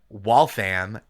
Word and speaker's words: Waltham: But then I went to college in Waltham at W A L T H A M which is the only one that's pronounced am cuz then south of there is denim and like Hingham south south of there.